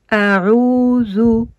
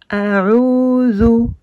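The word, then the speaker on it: أعوذ: Le zel avec la damma qui donne le son zo. Et on ne le confond pas avec le del qui lui n'a pas de point ici et qui donne le son de. Par contre, celui-ci donne le son zo, z. La langue entre les dents un petit peu entrouverte.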